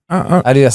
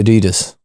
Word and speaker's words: Adidas: And then I still pronounce Adidas wrong, but whatever. What? Adidas is meant to be Adidas.